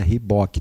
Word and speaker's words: Reebok: O Guarani lançou o uniforme da Reebok, perdão. Eu não vou entrar na onda de quem fala errado, não. É Reebok, tá, gente? Essa é a pronúncia correta.